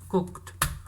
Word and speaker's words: cooked: cuma ditambahi Ed menjadi cook ya cooked bukan cooket ya Anda Bacanya jangan kuket ya deso itu kalau kuket cooked ya Nah itu yang reguler